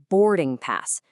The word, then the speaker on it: boarding pass: For the phrase boarding pass, make sure you put the stress on that first syllable. Say it like this. Boarding pass.